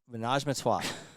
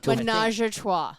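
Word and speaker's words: ménage à trois: Kylie loves the wine, Menage Matois. Najma what? No, Menage Matois. Menage a trois.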